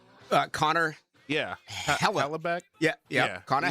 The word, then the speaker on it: Hellebuyck: How you pronounce his name? Connor. Yeah, Hellebuyck. Yeah. Connor Hellebuyck.